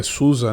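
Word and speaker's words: SUSE: exemplo é derrete sentias Suzy uma curiosidade aí a pronúncia Nativa é Susa né que a Alemanha essa distribuição Oracle Linux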